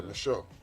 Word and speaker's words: Michon: See how Michon. it's spelled? Like French, right? Yeah, Michon.